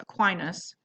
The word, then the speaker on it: Aquinas: Oh, I always say his name wrong at first. Aquinas.